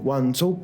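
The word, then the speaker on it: Guangzhou: y así como nanin nanin y cantón es guzu cantón quiere decir que no nosotros conocíamos a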